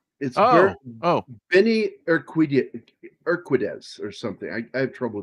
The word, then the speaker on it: Urquidez: Urquidez. Urquidez, Okay. I guess. Benny the Jet is the thing. Yeah, Benny the Jet Urquidez. Urquidez. Urquidez, Ben- yeah.